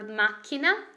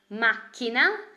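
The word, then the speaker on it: macchina: here I'll show you machina machina remember dice the H in Italian is mute is silent so you do not need to pronounce the H the akka so machina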